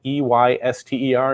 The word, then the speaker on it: Eyster: Julie Eyster, her name is spelled E-Y-S-T-E-R. Is that like an Easter thing?